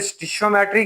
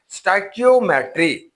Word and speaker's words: stoichiometry: Chapter number 4 स्टाइकियोमेट्री, इसको हम मुख्तलिफ प्रोनाउंसिएशन के साथ पढ़ते हैं। कहीं पे आप इसे स्टिशियोमेट्री कहते हैं, कहीं पे आप इसे स्टाइकोमेट्री कहते हैं या इसे स्टिचोमेट्री का नाम भी देते हैं। असल इसकी प्रोनाउंसिएशन क्या होगी? That is pronunciation is ए स्टाइकियोमेट्री। इसकी जो प्रोनाउंसिएशन है वो स्टाइकियोमेट्री है।